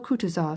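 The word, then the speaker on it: Kutuzov: General Coutuz has been kind enough to desire me as his aid to comp. He spoke in French and accented the last syllable of Coutis's name like a Frenchman.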